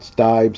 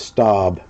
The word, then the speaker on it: Staub: It's actually pronounced Staub is how it is. It's not Stibe, Steve, it's Staub.